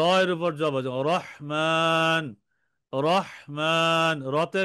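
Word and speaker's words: رَحِيم: র হা ইয়া মিম হ্যা রতে জবর রহিম রহিম রহিম তিনবার বলেন রহিম রহিম রহিম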